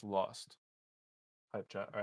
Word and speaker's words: ILXST: It's Lost. Hype chat. All right, that fam, appreciate you. You pronounce his name Lost. Who? ILXOST. Gyro? No, IL. Oh. Lost? Yeah, it's just Lost.